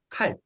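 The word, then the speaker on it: kalt: 그러면 앞에를 크 발음이 되려면 K나 CK 발음을 합니다. 읽어볼까요? 칼, 칼.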